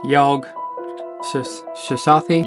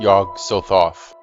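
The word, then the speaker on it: Yog-Sothoth: Oh man, I'm gonna have to look how to pronounce this. Yog Shosathi? Yog Sothoth.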